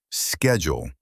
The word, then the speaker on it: schedule: Many people say schedule or schedule, but the most common way in American English is schedule. 3 sounds, schedule.